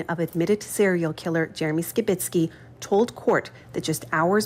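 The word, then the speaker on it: Skibicki: You might notice we are pronouncing Skibitsky's name differently. CBC has learned in court the pronunciation is Skibitsky.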